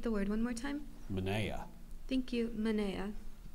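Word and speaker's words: menaia: sentence the priest had an impressive collection of Mana can I have the part of speech please it's a plural noun are there any alternate pronunciations no can you please repeat the word one more time Mana thank you Mana m e n a i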